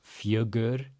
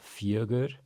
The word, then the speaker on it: fjögur: So the J makes the Y sound. We have an umlaut giving us that UH. It's a very soft G. It's not fjögur, but fjögur. Then we have our UR, pretty straightforward. It's kind of just a soft sound for the U. So fjögur, fjögur.